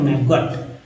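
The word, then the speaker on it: maggot: अब देखिए अगर फिर भी दिक्कत है तो हमारे साथ पढ़े इस तरह के वर्ड को, मैगट गॉट नहीं पढ़ेंगे, मैगट, ओटी को अट पढ़ते हैं, मैजियन, मैजिक्स, सभी लोग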